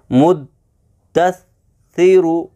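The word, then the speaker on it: مُدَّثِّرُ: मुद्दस्सिरु, मुद्दस्सिरु, मुद्दस्सिरु। आसान तरीका है कि थोड़ा सा रुक के पढ़ा जाए, ऐसे मुद्दस्सिरु।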